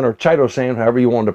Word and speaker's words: chitosan: kiesa saw one ounce and three ounces of chittosan or chitosan however you wanted to pronounce it and mike pointed out to me